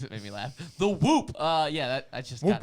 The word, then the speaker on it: Whoop: Do you think the NBA is pushing it because it rhymes with hoop?